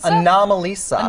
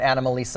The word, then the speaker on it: Anomalisa: from you said anomalies anomalisa now I'm ELISA like an anomaly that's exactly it i didn't know it because i was calling an animal lisa until i saw it